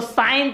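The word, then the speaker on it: sin: साइन theta बोलते हैं, बहुत लोग इसको सीन थीटा बोल देते हैं, जो कि रॉन्ग है, एस आई एन ये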